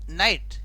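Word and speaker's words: knight: कह रहा है कि एन से पहले आने वाला के हमेशा साइलेंट होता है हमेशा साइलेंट क्यों होता है देखिए कि किस तरह होता है तो देखो यह लिखा है नाइट क्या लिखा है के साइलेंट हो गया नाइट लिखा तो के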